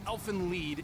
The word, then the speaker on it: Elfen Lied: clear fusion in the Elfen Lied manga elfin lead it's German nothing lead yeah I've been saying it right so thank God